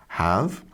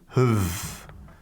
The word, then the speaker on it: have: So we've got t, and then have is usually pronounced like this, have, but then this is becoming huv.